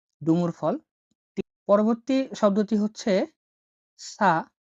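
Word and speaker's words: ث: পরবর্তী শব্দটি হচ্ছে সা। সা যেটা উচ্চারণ স বা থ এর মতো হয়ে থাকে।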